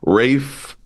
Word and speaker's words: Ralph: and and is it Ralph finds I always confused reefe Dr. Ian Kelsey Rafe but spelled like Ralph. It makes me uncomfortable. Rafe.